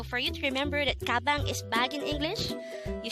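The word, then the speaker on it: 가방: Gabang could be divided into two syllables, ga, bang. Ga is formed from the combination of the sounds of kiak and a, while bang is the combination of the sounds of biop, a, and iyong.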